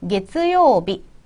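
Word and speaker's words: 月曜日: 캐츠 아니고요. 게츠 붙여서 게츠요비 되겠고요.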